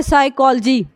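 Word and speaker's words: psychology: हमारा spelling rule है अगर किसी शब्द में पी के बाद एस एन बी और टी आए तो पी साइलेंट हो जाता है लेकिन यह जो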